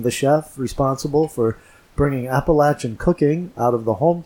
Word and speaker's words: Appalachian: now in other parts of the country they pronounced that Apple ashen or Appalachian even but here they call it they pronounced an Appalachian and so that's the proper way to pronounce